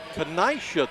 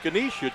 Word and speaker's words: Kenaisha: hospitality hospitality room and said it's kenaisha thorpe i know we have but she cornered me and i had to put it down phonetically and you when you said kenisha joe i had to